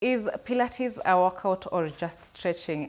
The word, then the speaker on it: Pilates: Some of us will appear how to pronounce it. Pilates. You said Pilates. it's not pirates, not Pilates. Okay. It's, Pilates.